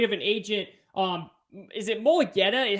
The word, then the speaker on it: Mulugheta: And to your point of how great of an agent, is it Mulugheta? How do you pronounce it?